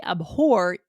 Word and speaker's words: abhor: It's kind of a weird word, too, cuz we are kind of pronouncing the H, aren't we, Aubrey? Yes, we do have to, right? We you hit that H kind of hard.